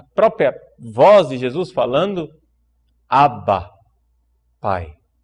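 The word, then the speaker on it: Abba: Vox crist a própria voz de Jesus falando Aba Pai é um só um par uma nota de rodapé a pronúncia em aramaico é ABA como em grego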